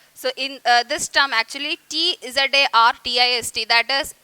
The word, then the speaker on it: Tsarist: They led a miserable life under the aristocratic rule of Tsarist emperor. So in this word T is silent, so pronounce it correctly.